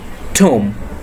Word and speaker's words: tomb: Next one, TOMB. B will be silent in here. So the pronunciation is tomb.